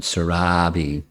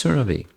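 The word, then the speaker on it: Surabhi: Her name is not Sarabi, it's Surabi.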